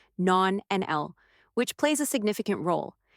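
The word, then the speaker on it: nonanal: Scientific research has identified a compound known as non-anal, pronounced non-NL, which plays a significant role.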